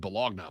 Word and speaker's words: Bologna: a Syria match against bologna yesterday it's absolutely belong now but it's spelled b-o-l-o-g-n-a and Oscar Meyer has